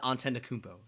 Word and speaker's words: Antetokounmpo: Giannis Antetokounmpo. That is how you pronounce his name.